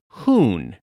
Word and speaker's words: Huhn: where this nickname originated it's pronounced like spoon but with an h hoon means chicken the